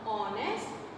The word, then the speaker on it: honest: और जब हम इन words को pronounce करते हैं, then we start with o, with this vowel o. So we will use an with in front of honest, an honest man.